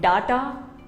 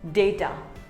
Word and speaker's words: data: restaurant here's another word it is not data it is called data say day ter similarly here's another word